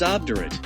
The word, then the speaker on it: obdurate: Pronunciation obdurate. Breakdown. Ob or ob, stressed syllable, pronounced like ob, British, short o as in pot, American, broad a as in father. Diu, sounds like diu, like the beginning of duel.